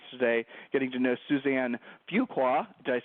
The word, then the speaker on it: Fuqua: of the podcast today getting to know Suzanne Fuqua.